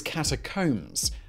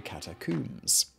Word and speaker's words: catacombs: The American way, which is not how I would pronounce it, is catacombs, while the British would say catacombs. Now, neither pronunciation is incorrect, though the British pronunciation